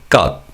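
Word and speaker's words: 것: And as you could hear depending on the noun it is used with cut is often pronounced as gut.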